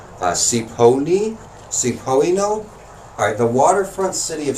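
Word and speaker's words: Cioppino: Up next we have, I don't know how to pronounce this correctly. I think it's Cipollino. Alright, the waterfront city of San Francisco is a fount of classic seafood dishes. And Cipollino is one of the most iconic.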